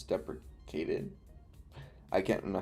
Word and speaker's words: deprecated: Is it deprecated or depre It's not depreciated. It's deprecated.